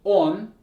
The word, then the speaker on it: он: When we say the word he, it's on, right? The O sounds like O, on.